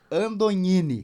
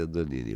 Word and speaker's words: Andognini: Todo mundo me chama de Andonini, mas a origem, que é italiana, o G, depois de uma vogal, se pronuncia como NH. Uhum. Então, por isso, Andonini.